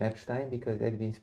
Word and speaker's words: Epstein: So, yes, it's Epstein like Einstein. The writing is the same.